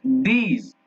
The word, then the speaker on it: these: दिस, THIS रहेगा तो दिस, और THESE रहेगा तो इसको बोलेंगे दीज। दांत को थोड़ा दबा के जीभ को, दीज, और THIS रहेगा तो दिस।